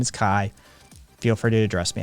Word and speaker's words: Kai: as close as i'm gonna get for that pronunciation um yeah uh zara my name is kai k-a-i it's my name um feel free to